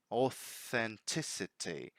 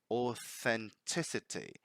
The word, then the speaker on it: authenticity: we have the T, the voiceless TH. Authenticity. Authenticity.